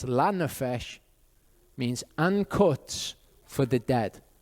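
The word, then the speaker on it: לנפש: so learn a fish actually with the right vowels it's lanafish means uncuts for the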